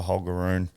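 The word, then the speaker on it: Holger: by hogar hogar as they so pronounce it at the French Open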